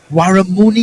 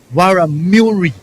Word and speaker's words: Waramuri: Waramuni, you said? I've got the correct pronunciation. Muri? Waramuri. Yes, John himself, with a touch of Amerindian in him, will know that language.